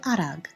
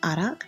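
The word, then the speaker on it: արագ: In eastern Armenian we say arag a r a ag. In western Armenian we say arag. A r a c. Can you pronounce arag or arak depending on your dialect?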